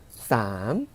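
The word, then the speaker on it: สาม: 숫자 3은 우리가 발음 어떻게 했죠? 쌈 하고 발음했어요.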